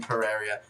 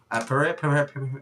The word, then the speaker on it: Pereira: And thank you as well to Brian Pereira. Pereira. I'm not good at pronunciation.